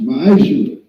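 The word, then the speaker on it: מעשר: You can find this in Numbers chapter 18, verse 21, and Malachi chapter 3, 8 through 10, which means 10th in Hebrew, and is pronounced Ma'ashra.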